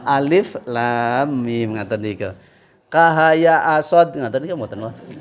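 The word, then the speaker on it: ألم: Niki dirangkai Pak Jamal Tapi bacanya per huruf mboten Alama mboten moten Alama Alif Lam Mim ngatenik kahaya Asad ngen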